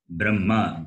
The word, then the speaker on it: Brahma: Therefore, how you have to read this particular combination is, Brahma, B-R-A-M-M-A. Note this. This is only for this particular. So that ha is not pronounced? Ha is not pronounced, exactly.